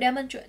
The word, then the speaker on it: demonstrate: Với từ demonstrate, trọng âm sẽ rơi vào âm tiết đầu.